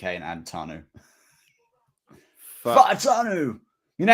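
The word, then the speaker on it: Fautanu: Fa'atanu. Fa'atanu. Like that. Like quick, like real quick. Basically like how you and I would say the F word, but like get rid of the CK and add Tanu.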